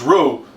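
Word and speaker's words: roux: uh for the gumbo and it's pronounced it's pronounced Rue but it's Rox important uh component of this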